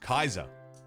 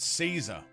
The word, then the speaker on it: Caesar: the year before that it's actually probably was pronounced Kaiser not Caesar I'm still going to say Caesar in the same way I'm still going to call it Barcelona but it was likely pronounced Kaiser Scotsman hello how you